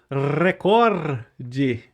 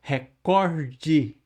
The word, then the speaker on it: recorde: Recorde. Ninguém fala recorde. É recorde. Certo.